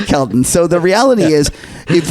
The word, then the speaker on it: Kelton: I got her name wrong. So it's a portmanteau of her first name and surname. Skelton. That's right. Sorry, Kelton.